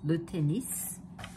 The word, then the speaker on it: tennis: Le tennis, and you do pronounce the S, le tennis.